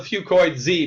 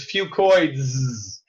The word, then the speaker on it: Fucoids: I call it Fucoid Z because that's easier to pronounce. But really, the correct way to say it is Fucoids.